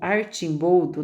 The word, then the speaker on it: Arcimboldo: da alquimia e o arcimboldo ou arte boldo né que a pronúncia correta ele não influenciou apenas